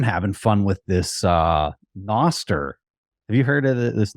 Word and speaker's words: Nostr: what is it like it's Noster is that how you pronounce it yeah uh like Nostradamus or probably Noster yeah that makes sense okay